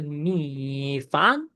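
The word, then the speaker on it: 米饭: এরপর আসতেছে মি ফান, মি ফান, মি ফান। এটার মানে হচ্ছে রাইস। দেখেন এটার উচ্চারণে কিন্তু টাফ আছে।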